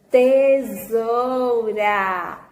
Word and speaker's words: tesoura: Tesoura. Isso mesmo. Onde o S também perdeu o seu som de S e ganhou o som de Z.